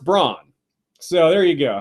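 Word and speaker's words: Brann: his name is pronounced Braun so there you go how about that spelled with an A but it's otherwise pronounced the same as Brawn as in Braun the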